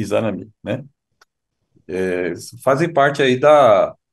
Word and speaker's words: Izanami: Izanami, Izanagi e Izanami, né? Como bem frisou o Kaito-san, tem que a sílaba tônica aí, a última, né? Izanagi e Izanami, né?